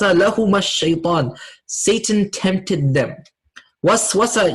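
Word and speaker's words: وسوسة: Waswasa, you see how if I pronounce it correctly, how it sounds? Waswasa. Whisper. Whisper, right? Waswasa, whisper. Very similar sounding, because that's what the idea of waswasa is, to whisper temptations.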